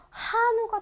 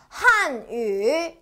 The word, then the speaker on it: 汉语: 이고요 중국어로는라고 읽어 줍니다 이거 우 아니에요 우라고 읽으시면 한우가 돼 버려요 어어 한우 아니죠 먹는 소고기 배고프죠 그래서 얘는 우 아니라 위라고 읽어 준다까지 기억하시면 될 거 같아요 자 다시 한위 다시네 한위 여러분들 해